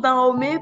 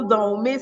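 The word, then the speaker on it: Danhomè: de Down me oui je prononce dans Homer parce que ce qui a été francisé et transformé en Dahomey alors si on parle traduire de manière vraiment en langue béninoise c'est c'est littéralement dans Homé c'est comme dans le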